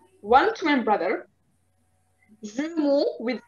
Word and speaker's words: jumeaux: It doesn't change the pronunciation. It's the same pronunciation, just with the X.